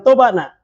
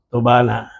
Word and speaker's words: tobana: itu maksudnya iya iya jadi jangan sampai tobana itu dibaca atau disebutkan atau dikatakan Tobat nak dan sebaik-baiknya dengan kita pengucapan kita ini tobana tobana tolong menolong bantuantembantu bantu